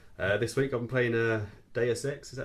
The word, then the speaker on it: Deus Ex: This week I've been playing Deus Ex, is that how you pronounce it?